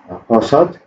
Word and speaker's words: 버섯: I think this should be T, not S. Anyway, this is 버섯, that means mushroom.